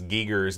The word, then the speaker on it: Giger: We say Geiger. I guess the real pronunciation is Giger's name for the alien.